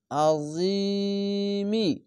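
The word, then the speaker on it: العظيم: যে লিল, জুলফাদ লিল আজিমি, এখানে আজিমি বলছি, এখানেও থামার জন্য ওয়াকফ করার জন্য মি উচ্চারণ হবে না, জিম আজিম, এভাবে মিমের উপরে একটি সাকিন দিয়ে পড়ে নিতে হবে।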